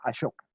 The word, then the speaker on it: Ashoka: Ashoka se escribe en realidad Ashoka, A-S-O-K-A, Ashoka, como suena, digamos Ashoka, se puede escribir con S-H y normalmente se pronuncia Ashoka.